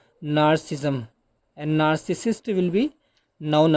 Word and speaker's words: narcissism: the final word narcissism narcissism a little bit tough to pronounce but you can see it's spelling nar na rci double sism narcissism what does it